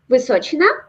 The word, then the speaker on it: Vysochina: It says China at the end, and I just want to say China. Yeah. Okay, it's pronounced Vysochina.